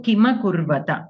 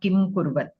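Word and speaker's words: किमकुर्वत: Okay, so Kima Kurvata, not Kim Kurvat.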